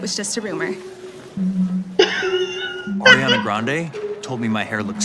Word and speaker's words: Grande: Ariana Grande, because that's how you actually pronounce her last name, dropped a music video to Thank You Next.